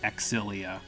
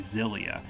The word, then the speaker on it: Xillia: I remember correctly the the Japanese version pronounces it exilia but that's not how X's work at the beginning of words in English so I'm going to pronounce it like an English speaker would pronounce it which would be zelia because in the English language if you stick an X at the beginning of a word it's pronounced like a z so that's what I'm